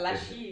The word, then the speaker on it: Lachine: I Because, like how you pronounce that. Lachine.